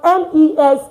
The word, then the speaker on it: mes: Like when you have es at the end of a word, it's pronounced as a. That's why mes is me.